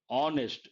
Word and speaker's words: honest: And if you take mute H, honest, not honest. Honest, H is silent, we have to say an, not a.